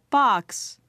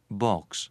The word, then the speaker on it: box: 미국식 발음으로 box 하시면 되는데 자, 영국 사람들은 달리한대요. 들어보세요. box, 이렇게 한대요. box, 어떻게 발음했나요?